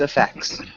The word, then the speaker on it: effects: ] without the t sound so just effects okay sorry so adan